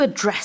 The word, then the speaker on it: address: What about to address someone or something? So, in this in this case, it's a verb, of course. So, we put the stress on the second syllable.